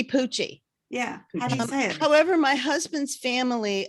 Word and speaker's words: Pucci: how you say it it's supposed to be poochy yeah however my husband's